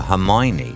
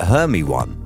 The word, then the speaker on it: Hermione: was thinking like Hermione how is that ever Hermione it's like her me one isn't it like you know if you spell it out its heard me one rather than Hermione I don't get that